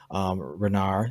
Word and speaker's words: Renar: So with Savage Wizard one, it's the story of Renar.